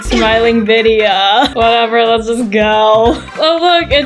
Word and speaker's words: Vidia: It's pronounced Vidia, not Bidia.